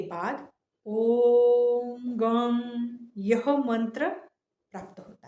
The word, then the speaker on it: गं: गण प्लस आदिम तो गण शब्द का पहला ध्वनि ग हलंत ग लेना है उसके प्रथम उच्चारण के बाद वर्णमाला का पहला अक्षर अ का उच्चारण करके ग बनता है ग अक्षर प्राप्त हुआ फिर परत रहा मतलब उसके बाद ग और अ के बीच के अनुस्वार का उच्चारण करने के बाद गम यह रूप हमें मिलता है यह रूप बनता है